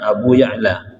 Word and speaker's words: Abu Ya'la: Karena para ulama dalam kitabnya sampai menjelaskan dengan keterangan, seperti misalkan Abu Ya'la bi fathit tahtiyati wa sukunil muhmalah, berarti bacanya Abu Ya'la, Ya'la.